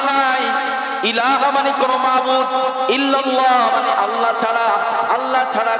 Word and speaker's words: ইল্লাল্লাহু: লা ইলাহা ইল্লাল্লাহু। অনেক মানুষ বলে ইল্লাল্লাহ। বলে কিনা বলেন? আবার লা ইলাহ মধ্যে টান দেয় না। লা মানে নাই। ইলাহা মানে কোন মাবুদ। ইল্লাল্লাহ মানে আল্লাহ ছাড়া।